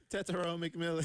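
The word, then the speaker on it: Tetairoa McMillan: And I'm going to real quick slip in a winner here for Jared for announcing Tet's name, pronouncing it correctly on the first try. One more time. Tetsuo McMillan.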